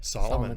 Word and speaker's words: Salamun: Salamun, that's right. Because it's spelled differently. It's spelled differently, Salamun, but it sounds like Solomon. So like King Solomon, but not quite as wise.